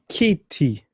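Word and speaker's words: kiti: Kitty. Chair. Kitty. Chair. Fantastic. So always remember that the E, the letter E in English, becomes the I in Kiswahili in terms of the sound.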